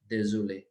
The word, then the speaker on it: désolé: बोलने में दोनों में प्रोनाउंसिएशन सेम है. Désolé. Désolé. Désolé. बट अगर हम एक्स्ट्रा चाहे ई डाल रहे हैं चाहे नहीं डाल रहे, उससे कोई मैटर नहीं करता प्रोनाउंसिएशन पॉइंट ऑफ व्यू से.